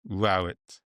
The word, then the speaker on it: Rowett: 90% of people assume it's Rowlet, but in fact it's Rowit.